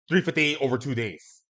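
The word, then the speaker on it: 358/2 Days: They demand that you pronounce it 358 over two days.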